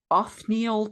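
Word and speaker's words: Othniel: 1870s by American paleontologist Anneil Charles Marsh. Uhhuh. That's a good call. Cthulhu name is spelled o t h n i e l like Neil but with off in front of it.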